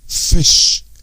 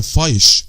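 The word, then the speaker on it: fish: فيش شو يا جماعه مش مثلا فايش لا او مايلك لا فيش ميلك فيش.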